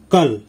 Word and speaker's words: कल: গতকাল হিন্দিতে হবে कल, বাংলায় উচ্চারণ কাল, হিন্দি উচ্চারণ कल।